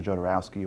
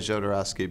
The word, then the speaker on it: Jodorowsky: know some people that could be a point of confusion as to how to pronounce his name and in fact we got to see him at South by Southwest and got to ask him himself oh and he says it doesn't matter he says you can see